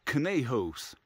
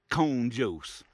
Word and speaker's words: Conejos: else's youtube video that this is pronounced cane host i was calling it cone jose so i'm kind of